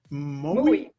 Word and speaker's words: Moowe: And finally, you are also an entrepreneur and co-founder, project lead, and developer in, how do you pronounce it? Moowe.